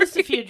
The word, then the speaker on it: Lucifuge: Lucifuge is correct, but I'd have to have the word in front of me.